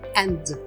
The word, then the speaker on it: and: isso porque o and Ele termina com D Então a gente vai pronunciar somente and Ou seja somente com a letra D mesmo quando a pessoa